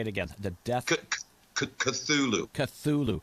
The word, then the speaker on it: Cthulhu: He went and there was a newspaper interview, God, probably back in the 1930s or 40s, and he actually pronounced it out as Cthulhu.